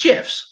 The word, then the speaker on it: GIF: Use GIFs. Yes, it's pronounced GIF, like the peanut butter.